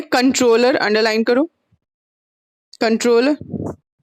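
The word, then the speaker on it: comptroller: कंट्रोलर, कॉम्ट्रोलर है लेकिन उसको पी साइलेंट रहेगा। ठीक है, कंट्रोलर एंड बोलेंगे, कॉम्ट्रोलर नहीं बोलेंगे उसको।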